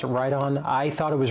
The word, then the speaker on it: Riton: I thought it was written. I stand corrected. I want my friends at Riton to be happy. So we're going to call it the proper name now that I know it's right on.